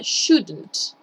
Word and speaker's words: shouldn't: Le voy a poner una U chiquitita ahí para que lo puedan hacer, lo puedan pronunciar, pero no es shouldn't, ¿ya? Ojo ahí, sino que es shouldn't. Es como una U muy chiquitita.